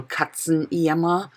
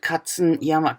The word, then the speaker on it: Katzenjammer: It's a bit difficult for English-speaking people to pronounce it, I think. But it's not that difficult, I think. Should be possible. Katzenjammer. It just could mean a hangover. But the word Katzenjammer, Katze it's a cat.